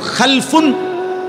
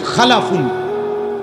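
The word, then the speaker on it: خَلَفٌ: একটা জেনারেশন দুই রকম আরবিতে একটা হল খালফুন আরেকটা হল খালাফুন একই শব্দ শুধু উচ্চারণের মধ্যে একটু ভিন্নতা মাঝখানে একটা লাম আছে। এই লামটার মধ্যে যদি সাকিন হয় তাইলে হল খালফুন। আর যদি লামের মধ্যে জবর হয় তাহলে হল খালাফুন।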